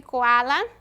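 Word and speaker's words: koala: e observa é que coala mesmo com a letra k se pronuncia como se fosse ser próxima sandhya a fruta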